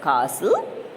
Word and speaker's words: castle: The last word is castle, T is silent.